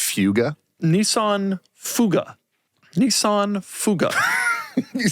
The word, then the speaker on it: Fuga: Nissan Fuga. It's pronounced fuga.